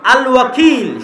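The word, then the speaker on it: الوكيل: আল ওয়াকিল শুদ্ধ উচ্চারণ।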